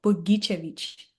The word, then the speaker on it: Bogicevic: Maybe I'll let I'll let you say that name as you normally pronounce it. So uh my name is Sazo Buggichevich.